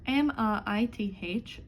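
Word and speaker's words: maith: M-A-I-T-H, good, will be pronounced mai, mai.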